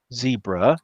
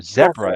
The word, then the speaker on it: zebra: we're going to celebrate a floating zebra or zebra as the british say zebra well i am